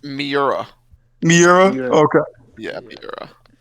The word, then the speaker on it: Miura: Is it Myra? It's Miura.